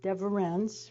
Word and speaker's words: Deverens: And Caroline told me it's pronounced Deverens, right? Did I do that right? Okay. So he's Deverens, and if you've ever